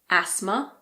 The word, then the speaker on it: asthma: Some of the most common ones are asthma. There's a silent H in there as well. It's asthma. Christmas, mortgage, and soften.